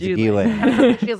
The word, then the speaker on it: Ghislaine: It's Ghislaine.